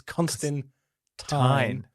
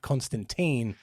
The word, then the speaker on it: Constantine: no uncertain terms it's constant time not Constantine and there are actually many many uh like panels in the book where he corrects people oh it rhymes with wine not team so in the comedy